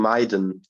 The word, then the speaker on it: Miden: all listen really carefully it's like you're putting on Maiden oh okay oh yeah